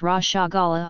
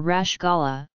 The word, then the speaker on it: Rasgulla: Rasgulla, locally pronounced Rashagulla or Rashgulla, is a sweet made with chana and sugar syrup.